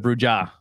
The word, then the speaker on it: Brewja: j-a yeah because oh the j in spanish is the h sounds yes i i first said i said bruja and they're like you're